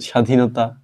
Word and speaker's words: স্বাধীনতা: স্বাধীনতা এই যে স্বাধীনতা দেখো শব্দের শুরুতে একটা আছে এই ব এর উচ্চারণের ক্ষেত্রে কোন প্রভাব নেই এই ব উচ্চারিত হয় না তাহলে আমরা কিভাবে লিখবো